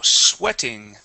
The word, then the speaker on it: sweating: Um now sweating. Okay. We can actually uh take that T and turn it to a D. And instead of saying sweating, it is sw with a short e sound. Sweating. Sweating.